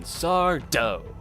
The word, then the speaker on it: Sardo: It's also the first episode to feature a reoccurring character in Sardo. No mister, accent on the dough.